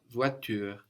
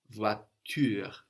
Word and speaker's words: voiture: So this is spelled V-O-I. The O-I there gives us wa, like in dois, which is spelled D-O-I-S. So the O-I again, they're giving us wa, voix, T-U, like the word for you, ture, R-E. And we end in that R sound.